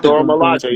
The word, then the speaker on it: Dora Milaje: Dora Milaje.